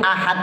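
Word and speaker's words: أحد: belakang maka dibaca kubra nah berhubung Ahad itu adanya di belakang maka kita baca Qul huwallahu Ahad jadi d-nya itu tampak kelihatan Ya beda kalau dalnya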